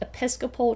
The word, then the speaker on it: Episcopal: down to who ha Woman's University started from mispronouncing that first word that is a an American Methodist Episcopal Church ie the word is Episcopal Methodist Church